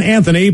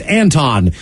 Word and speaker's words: Anthony: I'd like to say happy birthday to our son, Anthony, pronounced Anton.